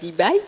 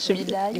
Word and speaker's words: Dibaye: Alors oui, on est accompagné de Bibaye, c'est ça? Bidaye. Bidaye, voilà, Bibaye. Bidaye. Allez-y tout doucement. Vous Tout prononcerez doucement, mieux.